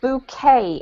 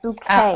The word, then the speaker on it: bouquet: This word here is pronounced bouquet, a bouquet.